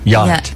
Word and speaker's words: yacht: I don't know like yacht there's another one you would think it would be spelled yot t yacht yeah but it's not it's got the C and the H in it why are they in